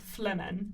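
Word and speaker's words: flehmen: to his brain which is a process called flemen which is spelled f l e h m.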